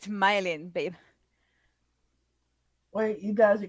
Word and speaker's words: Mylene: So it's my line. No, She's it's malign. pronounced Mylin. Don't malign Mylene.